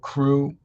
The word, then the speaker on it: Kwere: So yeah, so there's another one called Crew, and that has a little Haitian flavor to it, but it's Mm-hmm. very positive, and it's spelled Kwere, something to that effect.